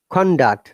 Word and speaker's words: conduct: word conduct or conduct which one should be correct conduct noun remember stress on the first part it is not my